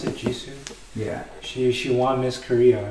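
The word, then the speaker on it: Jisoo: But if I had to choose, I really like Ji-soo. Ji-soo, that's how you pronounce it, Ji-soo, yeah, she won Miss Korea, right?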